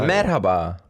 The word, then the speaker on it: merhaba: Merhaba.